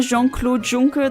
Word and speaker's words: Jean-Claude Juncker: For those of you unaware, Jean-Claude Juncker, that's how you pronounce his name, was once Prime Minister of Luxembourg.